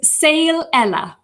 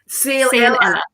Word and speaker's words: Saol Eile: to correct me on the spelling and the pronunciation, right? Because obviously I got it and Helena, Saol Eile, is that right? It's Saol Eile. Saol Eile.